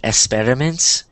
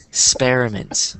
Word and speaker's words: experiments: and notice um in in Spanish when you have an X it kind of sounds like an S sound like I think anhel said experiments but you want to pronounce it like this x experiments so experiments experiments